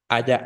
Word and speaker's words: haya: Haya, la sílaba tónica es la primera.